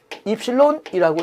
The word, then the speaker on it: 입실론: 그럼 먼저 이 전압 변동률 입실론이라고 읽습니다. 입실론에 대해서 보시면은 전압 변동률은 입실론은 Vn분의 V0 마이너스 Vn, Vn이 전격 전압입니다.